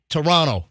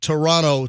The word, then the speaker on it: Toronto: want me to say Toronto Toronto Toronto you're like you kind of you swallow it or bury the last T in Toronto anyway I think the